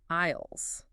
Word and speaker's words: aisles: The main paths are called aisles. And that's a tricky pronunciation, isn't it? The s is silent.